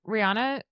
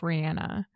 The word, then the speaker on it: Rihanna: Except, okay, Rihanna calls herself Rihanna.